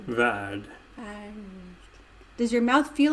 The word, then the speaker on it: värld: Yeah, it's more that it softens the R. Värld. Värld.